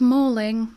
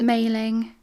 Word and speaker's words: Maling: and this one has mailing on the bottom and some people mispronounce it as mauling which is wrong or melling or maling it's mailing yeah it's a newcastle